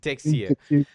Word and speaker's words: Texier: Am I pronouncing it right? I think it's Texier Texier. Texier.